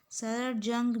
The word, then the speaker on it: Salar Jung: तो गाइज यहाँ पे तो पहली बात ये जी नहीं होगा, इसका स्पेलिंग है SALAR JUNG, जंग, सर जंग म्यूजियम है।